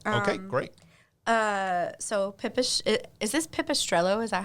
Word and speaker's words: Pipistrello: So is this Pipistrello?